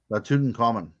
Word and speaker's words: Tutankhamun: Tutankhamun.